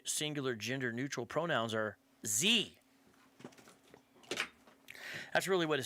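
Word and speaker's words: zie: Z is the subject pronoun and is pronounced Z-E-E, Z, and her is the subject and possessive pronoun and is pronounced her.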